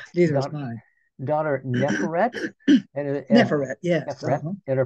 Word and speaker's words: Neferet: Neferet, yes.